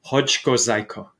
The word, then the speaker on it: Chodzko: people don't try my last name but it's hodgko it's a polish name yeah it's a it's